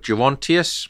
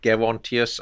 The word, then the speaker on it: Gerontius: called the dream of gerontius or the dream of gerontius I've heard it pronounced both ways and I think I'm not a classicist but I think both pronunciations are legitimate and the dream of